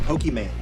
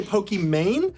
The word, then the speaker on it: Pokimane: People say Pokimane, but isn't your Pokemon. name pronounced Iman? My name is Iman, so it's the second half of the name, I-M-A-N-E. So it's meant to be like Pokemon, kind of like the game Pokemon.